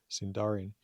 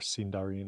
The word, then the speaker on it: Sindarin: Uh presumably names given to them by people in Gondor who used Sindarin. Or Sindarin, I suppose is probably how Tolkien intended that to be emphasized.